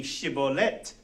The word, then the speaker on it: shibboleth: So, if you see, go back to slide, if you see the spelling of that word, shibboleth, and the correct pronunciation might be shibboleth. Shibboleth, shibboleth, shibboleth. So 3 different pronunciations. So the correct one would be shibboleth. If you pronounce it shibboleth, you were obviously an enemy and they killed you.